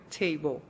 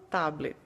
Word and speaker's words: table: Bem, eu já vou adiantar para vocês que ela não leu com a pronúncia correta, que seria table. Ela, como uma criança de 7 anos, leu os fonemas do jeito que ela conhecia. E ela leu, então, tablet.